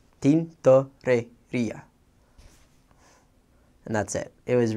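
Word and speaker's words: tintorería: It starts out T-I-N, so you would pronounce it tin, T-O-R, tor, and then E-R, rer, I-A, ia, tintoreria.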